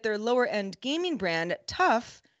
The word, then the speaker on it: TUF: lower end gaming brand tough not initialism it's an acronym like scuba or potus tuf but pronounced tough